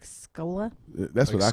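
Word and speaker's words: Skola: if you can find him he's kicked like scola that's what i call e schooler that's what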